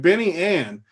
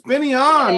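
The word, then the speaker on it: Ben An: keep calling the dude benny ann his name's not freaking benny ann it's benny on no wonder you don't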